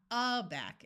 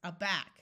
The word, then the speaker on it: aback: Did you remember to accent the second syllable? It's not adore, it's adore. It's not aback, it's aback. Could you do me a favor?